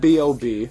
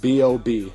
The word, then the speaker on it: B.o.B: in the bank, and B.O.B., I'm assuming he calls himself that because his music will make you barf out blood, are on the vocals. And yes, it's pronounced B.O.B., not Bob.